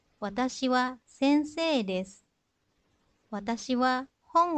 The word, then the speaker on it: desu: Watashi wa heni desu. Watashi wa sensei desu. Watashi wa hon o yomimasu. Nah, di situ untuk kata des dan mas itu tidak diucapkan desu atau masu, tetapi cukup diucapkan des mas.